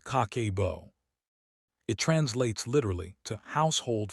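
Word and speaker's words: 家計簿: It is pronounced kakebo.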